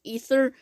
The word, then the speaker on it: Aether: and you can choose ether it's supposed to be aether but they pronounce the ether and he's the blight